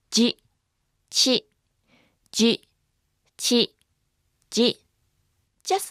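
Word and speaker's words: ヂ: Remember, it's not pronounced di. Actually, chi with a dakuten is pronounced as ji.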